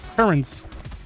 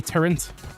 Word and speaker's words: turret: Like I know it's turret, but I used to pronounce it as turret with an N, a turret. Which I now know is the absolute wrongest way you could possibly pronounce that, but that's how I thought it was.